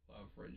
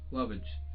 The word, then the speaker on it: lovage: Love ridge it is. Lovage. Love ridge. I'm pronouncing it wrong. It's Lovage. So it's like lovage.